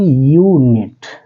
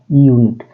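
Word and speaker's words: unit: ये है जैसे यूनिट यहां पर बेटा इसको पढ़ेंगे तो हम कहेंगे यूनिट ठीक है यूनिट यूनिट में किसका प्रोनंसिएशन हो रहा है किसका साउंड आ रहा है वाई का ठीक है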